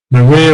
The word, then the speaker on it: Maria: Maria will compose a beautiful symphony tomorrow in memory of her father.